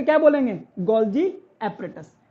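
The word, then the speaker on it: Golgi: हैं गोलजी एटस या गोलजी body L silent हो गया किसने डिस्कवर करा था इसमें कैमिलो गोलजी और इसीलिए इसका नाम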